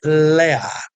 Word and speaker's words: Lea: A, o nome na verdade em hebraico é Lea.